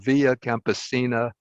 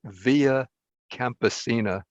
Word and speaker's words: Via Campesina: i included in my notes a statement from via campesina on the principles of food sovereignty but my